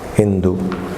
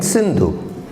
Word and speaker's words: Sindhu: Greeks, when they came, they could not pronounce Sa. So they, instead of Sindh, they called it Hind. Sapta Sindhu in Persia would be Hapta Hindu. Sapta Sindhu, you know. So they mispronounced it as Hindu. It should have been Sindhu.